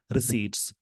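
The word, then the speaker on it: receipts: National India data on concerns raised about the heavy influence of government tax रिसीट्स। इसमें P silent होता है, इसको रिसिप्ट नहीं पढ़ते, रिसीट्स पढ़ते हैं, ऑन फाइनल जीडीपी जो भी है इस पे।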